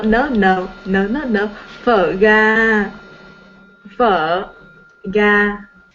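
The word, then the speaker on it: phở gà: Phở ga. Phở ga. Right? Pho Yes, ga. phở ga. Uh-huh. I had a very difficult time pronouncing the word because I thought it was pronounced pho.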